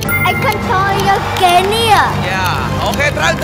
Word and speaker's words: Equatorial Guinea: Equatorial Guinea... Huh!... I didn't say that right. Equatorial Guinea!